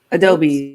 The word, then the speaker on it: Adobe: How do you say your name again? Adobe, like Photoshop.